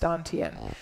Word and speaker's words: dantian: chinese call it the don tien it's spelled like tan tian but it's pronounced dantian so let's pretend this